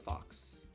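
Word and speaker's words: Faux: so is that a fox yes this is Sherwood this is Sherwood the fox spelled f-a-u-x but still pronounced f-a-o-x and he's he's chilling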